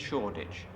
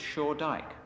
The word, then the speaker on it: Shoreditch: of the century however current members of the family maintain that the original pronunciation was shaw dyke this family was connected